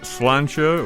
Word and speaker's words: Slàinte: well the concert is called slancha or sha or however you want to pronounce it that is the